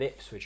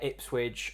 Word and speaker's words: Ipswich: I said that this is the season where Ipswich overtake Norwich. Can I just say, I still love it how you pronounce Ipswich as if you're talking about a sandwich.